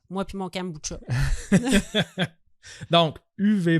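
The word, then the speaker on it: Uwe: faut le prononcer ok ça s'écrit u W ok u ça c'est son prénom comme ou mais ça ça se prononce UV ah ça se prononce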